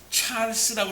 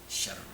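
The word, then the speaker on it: Charles: 칼빈은 노용에서 그의 형 찰스와 그의 형제 안토니와 함께 찰스라고 그랬는데, 이 찰스라는 것은 무슨 발음이겠어요? 영어 발음이야. 독일어 발음은 뭐야? 샤를라고 그래. 샤를.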